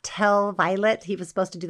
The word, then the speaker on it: Vilate: It's spelled like Vilate, but I think it's pronounced Vilate, so that's what I'm going to say.